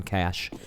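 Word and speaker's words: Cache: They won on JYP's map pick on Train 1614, and now on their map pick on Kaish, as they pronounce it down under.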